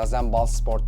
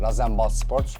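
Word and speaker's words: RasenBallsport: zaten Red Bull Leipzig Red Bull diye bir şey yok abi başındaki rw bunun açılımı y şu an doğru telaffuz edebilecek miyim bilmiyorum ama razen bal Sport diye bir şey yani razen bal Sports Leipzig ve anlamı da ne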